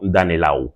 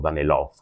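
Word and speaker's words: Danelaw: Así se forma el reino vikingo en en Inglaterra, lo que se conoce como Danelau o Danelov, como lo quéramos pronunciar.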